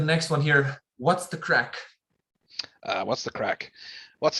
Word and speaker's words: craic: with that it's uh it's spelt differently it's c or a i c and it means fun it means uh excitement where's the action yeah exactly yeah so there's what's what's the crack would be how you